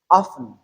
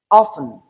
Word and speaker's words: often: It is either you pronounce it as often or often. Hence the transcription. In the transcription you see a sound in parentheses that is in bracket. It is an indication that this sound t is optional.